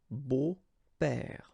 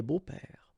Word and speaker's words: beaux-pères: Des beaux-pères, okay? Remember the S, but then it's silent. Des beaux-pères.